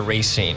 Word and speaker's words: Racine: Well, that too, but down in Racine County, do you pronounce it Racine or Racine?